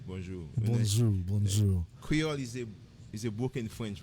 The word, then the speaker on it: Creole: and and cuiol haitian creole yes is it creoli or creole creole okay so i'm gonna take advantage of you